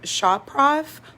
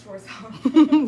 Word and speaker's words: Schwarzkopf: Yeah, so I'm gonna completely pronounce this wrong. Why use Olaplex if Shop Prof Blonde Me has hair bonder already? That's a great question. So, it's Schwarzkopf.